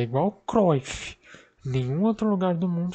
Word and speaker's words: Cruyff: O nome correto é Cruyff, porque ele é holandês e tem U, então a pronúncia do U é assim.